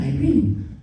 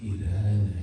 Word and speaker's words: Irene: Spanish names are better, like one girl tells me, "Hi, I'm Irene." It's like, no, in Spanish it's Irene. Doesn't that sound better, right?